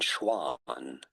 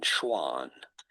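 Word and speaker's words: Schwann: How do you go about pronouncing those two German names? Schliden. Schliden and Schwan. Schliden and Schwan.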